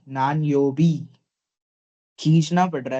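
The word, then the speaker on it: 何曜日: Nan yo. योबी. Naan योबी.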